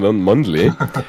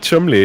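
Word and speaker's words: Cholmondeley: nature of his name, we've kind of been joking around like Mundley. But to hear that Chumley is actually how you pronounce his name, it's kind of a Worcestershire sauce situation.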